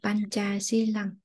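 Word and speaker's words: Pañcasīlaṃ: hi ban ca si la lòng Đúng rồi, con thêm một gợi ý nữa là chữ C này đọc là chữ chờ nha. Panchasilam.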